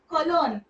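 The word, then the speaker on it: Köln: क्यों क्यों मतलब मतलब कॉलोन जो कि परफ्यूम्स के लिए फेमस है। कलोन मैं यहां पे लिख देती हूं। क्यों कलन यहां पे ओ उमला है क्यों ओके एश प्रिस्ट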